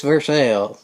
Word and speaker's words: Versailles: But then, there's Versailles. Y'all might say, I don't recognize Versailles. But just look up how it's spelled. V-E-R-S-L. So it's Versailles. The other people have it wrong. Us Kentuckians are right.